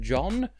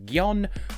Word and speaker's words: Gjon: too polite by half i swear so either pronouncing it jon but the xh e in angela perister's name